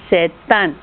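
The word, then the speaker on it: C'est un: 要注意一下哦， C'est 后面的 T 跟 un 前面的 U 要读连音，读成 C'est un.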